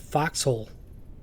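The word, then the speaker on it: forecastle: the FK folkal deck they even have it labeled Fel or for for Castle however you want to say it I've even heard people pronounce it Foxhole yep look at that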